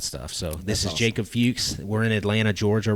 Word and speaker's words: Fuchs: time yeah it is it is fuches is also Fox and so fuches is just the Jewish German pronunciation of fox okay yes interesting so